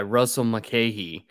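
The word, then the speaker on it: Russell Mulcahy: film uh directed by Russell mckeehee as I found out that's how you actually pronounce his name on the episode uh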